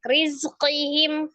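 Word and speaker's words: رِزْقِهِمْ: Ini terakhirnya pendek. Rizqihim pendek. Oh, rizqihim pendek ya saja. Jadi bukan rizqihim, bukan ya. Kan, itu kan tidak ada tanda madnya.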